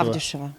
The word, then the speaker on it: Авдюшева: Авдюшева, на А ударение.